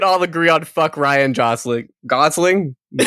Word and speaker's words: Gosling: I'm glad we could all agree on fuck Ryan Gosling. Gosling? You say Goosling. jostling? Yeah, I did. Ryan soft G.